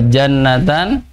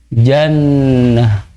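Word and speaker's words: جنة: Oh ya Jadi kalau jannatan ndak pongantung lihat ada kata yang ujungnya tak marbutoh apabila Antum wakaf disini maka tidak dibaca jannata panjang ya jannata tapi dibacanya Jannah Hai Dek Hai itu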